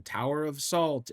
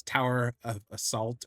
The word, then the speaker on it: Tower of Assault: the collectives and the Tower of Salt and all of these things. I now I literally accidentally said it wrong on purpose. It's tower of assault or assault tower.